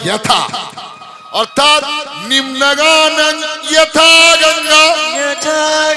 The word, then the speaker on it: যথা: যথা আমরা উচ্চারণ করি, বাংলায় বলি যথা, কিন্তু সংস্কৃত হয় যথা, অর্থাৎ নিম্নগানং যথা গঙ্গা।